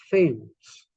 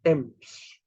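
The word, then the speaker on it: Thames: is the Thief but the river t-h-a-m-e-s then should be famous but it's not it's Temps so you see that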